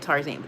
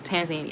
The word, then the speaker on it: Tanzania: I said Tarzania. Tanzania. I was close.